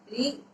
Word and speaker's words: ऋ: जैसे ऋषि जिसको आप बोलते थे ना री, अब उसकी हम मात्रा पढ़ेंगे। री, इसका उच्चारण कैसे होगा?